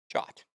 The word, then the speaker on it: JWT: In today's video, we are diving deep into the world of JWT or JSON web token commonly pronounced as Jot.